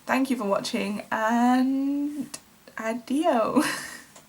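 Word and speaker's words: adijo: I assume that this word is pronounced adio, so adio, and thank you for watching.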